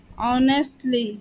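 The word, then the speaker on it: honestly: मकसद ईमानदारी से ऑनेस्टली ऑनेस्टली यहां पर एच साइलेंट होता है और ओ से इसका प्रोनंसिएशन स्टार्ट करते हैं सेवा करना सर्व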